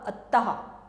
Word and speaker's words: अतः: इसको जब हम बोलेंगे इसका उच्चारण होगा अतः अहा ठीक और सभी मात्राओं